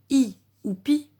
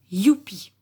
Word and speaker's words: youpi: Et si on ne va pas dire I ou pi, on ne va pas prononcer comme le I, mais on va prononcer youpi.